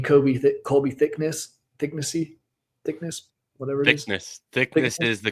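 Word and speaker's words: Thicknesse: Thickness is the correct Okay, pronunciation.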